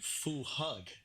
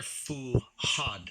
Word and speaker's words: Fuad: pronounce it here I I think it would be Fu hug no they're fuad fuhad fuhad fuhad and